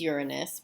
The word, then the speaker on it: Uranus: Saturn Uranus and Neptune now I know it's Uranus because the other thing they do sometimes in nonfiction is they have these they show you how to pronounce these pronunciation things where you can so you know how to pronounce it so you can see here it says your and us so Jupiter Saturn Uranus